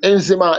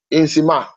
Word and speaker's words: Nzema: And Nzima is spelled Nzema. Nzima.